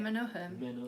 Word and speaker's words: Menuhin: Do I pronounce it? Yehudi Menuhin.